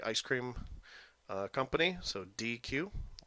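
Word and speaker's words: dequeue: So NQ remove is pronounced D Q okay just like the ice cream uh company. So DQ letters DQ and then element returns the front element.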